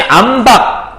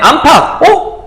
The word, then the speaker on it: 안팎: 그래서 발음해봤더니 안박 발음 좀 힘든데 안팎 어떻게 안팎이 나지? 가운데 히읗이라는 게 숨어 있었구나.